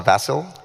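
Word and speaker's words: Vasil: of this month uh i believe it's pronounced a vassal yeah it's after vassal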